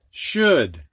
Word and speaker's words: should: a matter of fact where o u is pronounced ow usually but not in these words could would and should all right next one